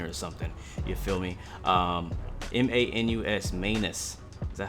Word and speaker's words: Manus: M-A-N-U-S, Manus.